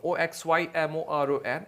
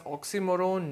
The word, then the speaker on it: oxymoron: speech which is oxymoron, Oxymoron. It is pronounced as oxymoron, not oxymoron, right?